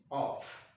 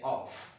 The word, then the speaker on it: of: This word here is pronounced of. Don't say off, of. And this one here is pronounced off.